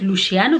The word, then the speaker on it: Luciano: And then there's Lucia, I think it's Luciano, that's how they pronounce it.